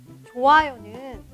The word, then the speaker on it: 좋아요: 안녕하세요 연대학교 한국당 입니다 좋아요는 좋아요 이렇게 말해도 됩니다 그럼 전화는 어떻게 읽을까요 전화도 전화 전화 모두 괜찮아요 받침 히읗 흐 소리가 모음 앞에 오면 발음을 안 해도 괜찮아요 따라하세요 싫어요 놓아요 나았어요